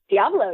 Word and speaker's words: Diablo: Is that how it's pronounced? Diablo, yeah.